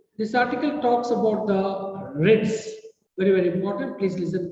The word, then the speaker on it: writ: Issues the writ. Pronunciation is writ. Spelling is W-R-I-T-S.